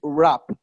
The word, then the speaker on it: wrap: you just say plastic wrap you don't pronounce the W you don't pronounce the W okay without the W just pronounce from our so it's like you are saying our ap wrap plastic plastic wrap plastic